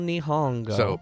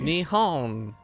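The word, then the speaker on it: 日本: to yeah the big Japan itself big old nihongo pop quiz will have wait how do you say Japan and Japanese Nihon what's the other way of saying you need pong yeah knee bone or Nihon so you're going to Japan for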